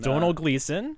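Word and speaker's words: Domhnall Gleeson: that played Admiral hu or General hux in Donald gleon yep is how you pronounce it I was it he's Irish skipping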